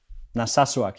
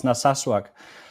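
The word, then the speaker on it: Narsaq: from a town called is it Nasak in southern Greenland? Naswak. Yeah. Yeah. It's a it's a difficult name to to pronounce, but yeah, it's Naswak.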